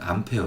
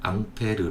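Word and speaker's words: Ampère: 분인데요 우리 전류의 단위는 암페어 줘 영국식 빠른 브라운의 남태현 때 2분을 불어로 하면 어 앙페르 려고 발음합니다 그래서 암페어 와 앙페르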